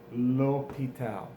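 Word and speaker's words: l'hôpital: with the H but often these words with the H we don't pronounce it it's it's silent AIT's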